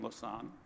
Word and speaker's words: Lausanne: So Nathalie Herschdorfer, as I've told you, is the director of Photo Elysée in Lausanne, Switzerland. It took me a long time to pronounce that correctly.